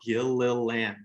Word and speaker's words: Gilliland: Just last names are hard, and I really think mine's pretty easy if you can sound it out, Gilliland.